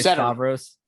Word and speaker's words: Stavros: How you doing today, Stavros?